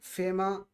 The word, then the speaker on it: FEMA: way then we have some acronyms which are pronounced as word for example fema for federal emergency management agency fema but fema also stands